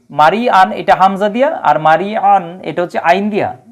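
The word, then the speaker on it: مريعا: হামজার উচ্চারণ এবং আইন আইনের উচ্চারণটা খুবই চিকন হবে হ্যাঁ খুবই চিকন করে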